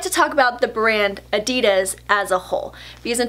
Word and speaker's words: adidas: I would like to talk about the brand adidas as a whole because in 2017 I made